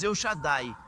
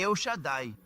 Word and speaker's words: El Shaddai: Muitos de nós pronunciamos El Shaddai, mas a pronúncia correta é El Shaddai. É mais difícil de pronunciar, né?